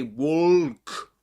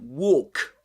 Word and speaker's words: walk: This is this L there is always silent. We don't say walk but walk.